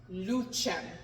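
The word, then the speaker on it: lucem: o e switched together it is always pronounced ch so luchem you see the um is it comes before an e so luchen the other uh C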